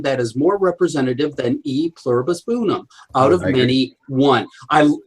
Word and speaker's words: E pluribus unum: And I can think of nothing that is more representative than E pluribus unum, out of many, one. I love the concept of that. And or pronounced in correct Latin, a pluribus unum.